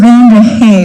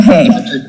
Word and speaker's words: Van der Hae: chairman and thank you it is mr van der hae right not mr haye two split word and it gets butchered all the time okay it sounds very